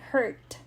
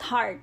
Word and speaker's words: hurt: burst burst hurt okay hurt say this with me hurt hurt not heart heart is different so hurt hurts hurting